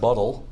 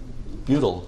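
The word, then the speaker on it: butyl: going to be important it's not btal it's the butle group now in your text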